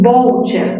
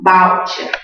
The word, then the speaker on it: voucher: Chicos, en inglés es voucher con la O, pero en castellano, voucher. Mayor fuerza en qué sílaba? Vau. Vau.